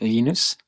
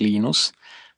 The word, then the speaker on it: Linus: When I speak Swedish, it's Linus. When I speak Finnish, it's Linus. When I speak English, it's Linus.